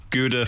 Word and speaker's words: Gouda: just clear that up technically guda for the Yanks G for everyone else can you still can